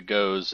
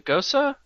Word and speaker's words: Gose: but until I ordered a Goes and I got the the Gosa. Yeah, that's what I meant to say. I must have just read it phonetically.